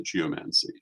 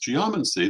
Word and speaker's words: geomancy: would do so um I would not be upset if you pronounced a geomancy but it's it would be properly pronounced geomancy the same way you would say biology not biology or um geology not geology it's simply the way